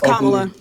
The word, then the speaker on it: Kamala: It's Kamala. It's Kamala Harris.